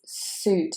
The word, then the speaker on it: suit: But in fact, it is suit. It is oo, the same as in fruit. So suit, fruit, boot.